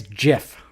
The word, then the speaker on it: GIF: pronounced gaba something tells me you do not pronounce it that way it's jiff jif is the way it is pronounced all